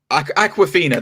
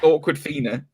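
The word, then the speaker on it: Awkwafina: plays his best friend at the show it's aquafina that's how you say her name that's the actress's name i could never it always takes me because i always want to say awkward awkward awkward finna it's like it's why do you spell the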